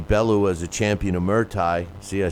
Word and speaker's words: Muay Thai: and label Tony Bellew as a champion of Muay Thai.